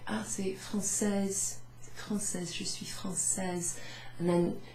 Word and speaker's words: française: So if it's a lady, ideally you'd want to say, êtes-vous française? Êtes-vous française? But if you forget that you have to pronounce the E at the end, I'm sure they're not